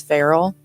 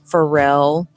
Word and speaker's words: Farrell: Everyone always used to pronounce my maiden name wrong. What's your maiden name? My maiden name is Farrell, Ferrell, Like but the I would get cats. Pharrell all the time.